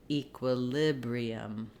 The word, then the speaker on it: equilibrium: which is which again also we can start on the stress syllable to have those vowel sounds and Rhythm fall into place that would sound like Librium equilibrium in this word you